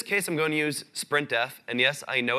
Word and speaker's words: sprintf: In this case, I'm going to use sprintf. And yes, I know it's pronounced sprintf, but I like saying sprintf.